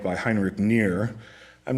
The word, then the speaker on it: Knirr: This is one of the most famous on the right by Heinrich Nier. I'm not sure you need to know these guys, but it's spelled K-N-I-R-R.